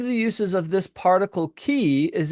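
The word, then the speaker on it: כִּי: Um going up several minutes ago this this word right here Hebrew word is called uh is pronounced key.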